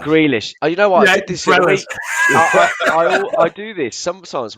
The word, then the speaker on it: Grealish: ten so i think grellish would have been the perfect perfect um squad player i have never heard his name pronounced like that grealish oh you know what